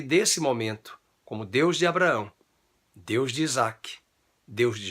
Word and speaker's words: Abraão: Na língua portuguesa, a letra A foi acrescentada ao nome Abrão e nós pronunciamos Abraão.